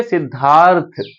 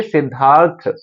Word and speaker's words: सिद्धार्थ: में इसको बोलेंगे सिद्धार्थ थ के ऊपर आधा र है लेकिन इसमें र का जो उच्चारण है वो पहले हो रहा है तो यानी कि पहले आधा र के लिए यहां प आर लिख देंगे और जब थ बोलेंगे सिद्धार्थ तो थ में आ वाला हल्का सा साउंड आ